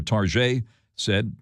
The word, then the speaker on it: Target: despite lackluster sales estimates Target posting holiday quarter revenue and earnings the topped Wall Street analyst expectations but Target said or tar said depending on how you like to pronounce it the company said it